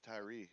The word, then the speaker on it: Tyre: actually be dealing with the human king of Tyree or Ty Ty Tire like do tires it's t y r e yeah I'm sit here looking at it but that's how you pronounce it like yeah Tire yeah Tire okay uh some of suggested that